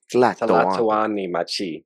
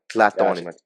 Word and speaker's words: Tlatoani Machi: little bit about the I don't want to pronounce it wrong. Tlatoani Machi. Tlatoani Machi. No. Tla. Tala. Yeah, so Tlatoani. Tlatoani Machi. Yeah, there you go. Tlatoani Machi.